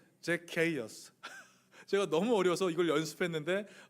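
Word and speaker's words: Zacchaeus: 영어 발음이 제케어스예요. 제케이어스.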